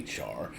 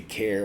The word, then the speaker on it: char: it pronounced both ways because it looks like the word jar you'll hear people say char also you'll hear people just say care well because obviously it's